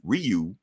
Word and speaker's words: Ryu: right from Street Fighters not Ru from Street Fighter he's Ryu it's not ninja gating